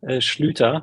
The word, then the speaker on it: Schlüter: Yeah, so you pronounce it perfectly, Schlüter.